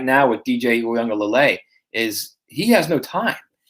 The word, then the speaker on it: Uiagalelei: Uiagalelei. Uiagalelei. It's Lele. Uiagalelei.